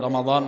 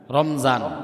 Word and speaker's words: রমাদান: আমরা সচরাচর মিমের উপর সাকিন দিয়ে বলি রমজান মাস। ঠিক না? রমজান। আমরা বলি রমজান। মূলত এই শব্দের উচ্চারণ রমজান নয়। শব্দের উচ্চারণ হচ্ছে রমাদান। মিমের উপর জবর দিয়ে।